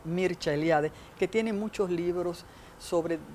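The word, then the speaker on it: Mircea Eliade: las religiones sea eliade que se pronuncia en rumano porque es rumano mircha eliade que tiene muchos libros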